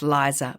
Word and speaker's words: Lisa: And like magic, there she was, Lisa, pronounced Liza Miles, the first candidate.